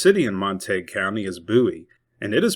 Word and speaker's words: Bowie: The largest city in Monte County is Buouie, and it is pronounced the same way as Jim Buouie, the great Alamo defender for whom the city is named. Note that it is not pronounced like David Bowie.